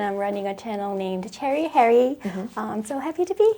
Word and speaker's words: Cheri Hyeri: I just like the pronunciation cherry, and I just love cherry. And my real name is, and Cheri Hyeri, it rhymes.